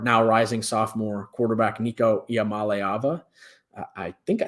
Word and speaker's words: Iamaleava: And it is believed to be centered around their star, now rising sophomore quarterback, Nico Iamaleava. I think I said that right. Looked up a pronunciation before this because I when you read the guy's name, you don't know how to say it.